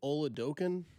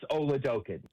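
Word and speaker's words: Oladokun: Do you pronounce it oloken or how do you pronounce it?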